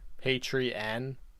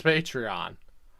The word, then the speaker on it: Patreon: Like, I've only heard people pronounce it as Patreon. He's pronouncing like there's a second E there. Patreon. I'm pretty sure it's Patreon.